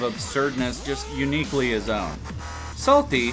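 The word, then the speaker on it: Psalty: Salty, spelled P-S-A-L-T-Y, with a silent P at the beginning like the Book of Psalms, is a creepy purple book.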